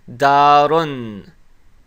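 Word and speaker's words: دارٌ: And when we pronounce it with the Damma Tanween, it's going to be pronounced as darun.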